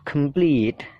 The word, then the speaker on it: complete: compete peit-nya itu ditekankan yang keempat complete tinggal tambahi vokal l apa konsonan l di situ suara l di situ ya Jadi complete gitu complete dan yang terakhir